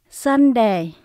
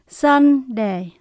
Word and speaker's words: Sunday: 7 ngày đều nhấn âm đầu tiên hết. Sunday, Monday, Tuesday, chúng ta nhấn âm đầu tiên.